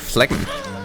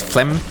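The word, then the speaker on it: phlegm: I think I just poured your fleg. Still not very good at pronouncing that. I think it just say like it's flem. There's like an almost in audible G there still, I think.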